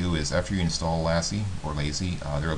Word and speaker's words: LASI: thousands of dollars uh it actually may be pronounced lazy I think some people pronounce it lazy but I intuitively say Lassie although that might be